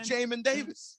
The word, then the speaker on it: Jamin Davis: Jamin Davis is how it's spelled Jamin, and it's way cooler if it's Jamin. Its name is pronounced Jamin Davis.